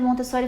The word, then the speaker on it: Montessori: estamos no Brasil e em português a gente tem costume, né, de fazer Montessori, mas em italiano é Montessor, então não tem certo nem errado, depende de como você pronunciar, mas em italiano que é a origem, né, do nome é Montessori.